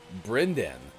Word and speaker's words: Brynden: your office Brendan goes I have even met a brynden once but is pronounced differently b-r-y-n -b-r-y-n -d-e-n Austin